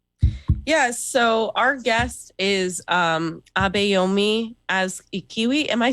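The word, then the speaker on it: Abayomi Azikiwe: Yes, so our guest is Abayomi as Ikiwi.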